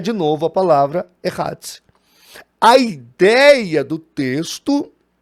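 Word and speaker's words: אחד: Essa palavra único ou um, no hebraico, é Hadz. Esta é a pronúncia, é Hadz.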